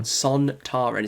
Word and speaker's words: Sontaran: Zontaran is how I pronounce Sontaran. Sontaran.